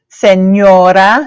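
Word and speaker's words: señora: a note that that says right yeah yeah Senora Senora way it's got the Enya that goes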